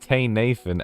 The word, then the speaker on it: Tanathan: Wait, his his his name is it's pronounced Tay Nathan.